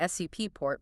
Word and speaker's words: support: Or look at the U in support. You don't say SUP port, pushing the tongue back. You say support, leaving the tongue dead center.